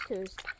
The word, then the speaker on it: Coos: Anyway, welcome to Camp Cuckoo's Coos. It rhymes with moose.